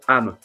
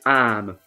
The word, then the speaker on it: âme: You don't say am. You say am, because the circumflex accent makes the sound more long.